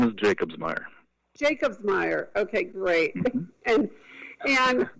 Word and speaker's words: Jacobsmeier: and his name is, and I hope I pronounce this correctly, JACOBS. Okay, help me out here. Last name is JACOBSMEIER.